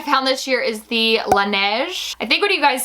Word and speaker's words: Laneige: other thing i found this year is the laneige i think what you guys said that that is the correct way to pronounce this laneige lip mask this is the berry flavor the